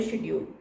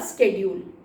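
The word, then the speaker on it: schedule: तो क्या आपका रूटीन है, टाइम टेबल क्या, that is called a शेड्यूल या स्केड्यूल. तो both are okay, one एंड the same thing, both pronunciation.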